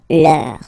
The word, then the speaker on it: leur: Okay, so remember, even if you've got this final S, you don't pronounce it, as it was the case already for this word, no, you don't pronounce the final S, vos, you don't pronounce it, leur.